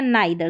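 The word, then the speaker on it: neither: यह है नीदर या नाइदर, दोनों तरीके से इसको प्रोनाउंस करते हैं।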